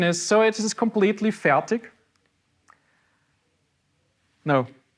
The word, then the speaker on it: Fertig: Because from where I'm coming from, it's perfectly fine to say Fertig. It's hard K at the end, or hard G. But in proper German, it's pronounced Fertig.